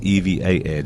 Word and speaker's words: EVA: It is EVA, just in case you're wondering. I've always mispronounced it.